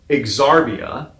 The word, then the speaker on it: Xarbia: to go to planet Exarbia. Okay, but it's spelled Xarbia. So it looks like it says Zarbia, but anyhow, everybody in the film pronounces it as Exarbia.